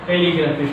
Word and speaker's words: telegraphy: Words ends with graphy text stress on third syllable from the end. Third syllable from the end like a telegraphy. Telegraphy.